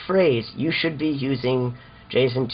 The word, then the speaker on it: JSON: choose to pronounce it definitely not Jason ion I pronounce Json Jason this is everyone's favorite